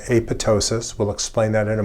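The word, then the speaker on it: apoptosis: M checkpoint what is apotosis I've talked about that several times note that the second p is silent apotosis is programmed cell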